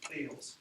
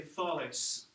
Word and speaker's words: Thales: THALES, Thales, rhymes with sales. But that's not how you say it. We say Thales, all right?